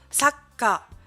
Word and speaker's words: sakka: gardez le K, vous faites une pause, et K, sakka, sakka. Et comme vous pouvez le voir ici, c'est le K qui va être doublé, donc le petit tout va se mettre devant la syllabe, le caractère K. Sakka, sakka.